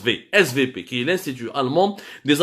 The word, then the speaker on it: SWP: fameux svp weight swp mais en allemand le w se prononcent vsv qui n'est cdu allemande